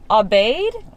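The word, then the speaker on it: Aubade: out one of her coffee recommendations which is obeyed i don't know a-u-b-a-d-e we've never been we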